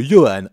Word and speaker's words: Johan: Jesse Anderson, ou plutôt Johan Anderson en version originale? Attends, mais ça s'écrit Johan? Oui, mais le J se prononce exactement de la même manière que pour Yoeri-sama.